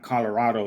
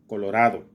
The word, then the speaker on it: Colorado: it's just like Colorado it's not Colorado it's Colorado it's not El Dorado